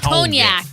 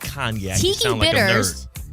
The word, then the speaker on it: cognac: No, cognac. It's cognac. Cognac. And it's not in the bank shot. Not Kgnac.